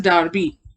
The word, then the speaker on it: Derby: It is not Darby, it is Derby. This is how we pronounce this word.